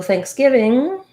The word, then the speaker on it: thanksgiving: to pronounce thanksgiving so thanksgiving has the th sound which is challenging for some people and in this case it's the voiceless th sound so it just has air sounds like thanksgiving i don't need